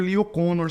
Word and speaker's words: Kanner: Inclusive, por que eu chamo de Lee O'Connor se escreve Leo Kanner? Porque aqui eles falam que a pronúncia é esse, porque ele era austríaco, ele não era americano. Então, a pronúncia não é como a gente esperaria de alguém cujo nome soa em inglês.